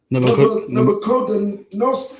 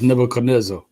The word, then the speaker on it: Nebuchadnezzar: He was also one of the captives which the book Nebuchadnezzar. Hold on, it's pronounced Nebuchadnezzar.